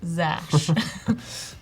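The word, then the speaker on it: Xash: So Noel's saying cash, but replace the C with an X. I don't know how to even try to pronounce that. We have, Zash. Yeah, Zash.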